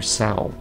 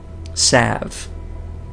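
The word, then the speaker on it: salve: You examine a bottle labeled as Gorgon Slav. Or Sal. No, that's not how you pronounce that. Sav. That's how it is.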